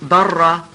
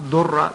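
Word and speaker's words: ضرة: Now, obviously, the word in Arabic for second wife is darra, sometimes mispronounced durra, but it's actually a darra.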